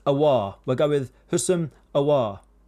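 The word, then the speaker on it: Aouar: It's not Ayor, that's in the past. Awar.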